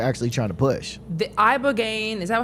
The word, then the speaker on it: ibogaine: The ibogaine, is that how you say it?